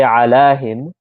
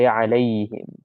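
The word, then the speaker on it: عليهم: We don't say alahim, we say alayhim. Alayhim. Because alahim sounds a little bit weird, so they changed that to make it easy.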